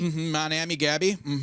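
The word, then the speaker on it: Mon Ami Gabi: Was it Monami Gaby? Monami Gabby. A little south side pronunciation.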